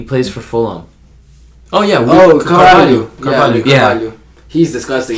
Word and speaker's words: Carvalho: Cavallo or whatever his name is? From Betis? No, bro. I always get his name wrong. He plays for Fulham. Oh yeah. Carvalho.